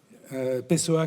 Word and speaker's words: Pessoa: Je prononce à la française. Pessoa qui vous accompagne depuis